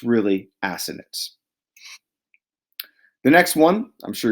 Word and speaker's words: assonance: middle school teachers say assonance to avoid saying assonance but to pronounce it assonance look at this one this